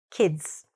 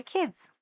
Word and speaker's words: kids: k i d s kids But when we say that, make sure the I don't stretch the I. Don't say E. Say kids. The short I, okay? Shorten the I. These are my kids.